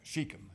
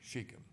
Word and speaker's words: Shechem: now this was in the land of shechem sheikham is the way it's pronounced sheikham and this is not where god told jacob